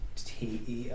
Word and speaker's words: Teo: T-E-O. Oh. What was this fact that's pronounced Teo?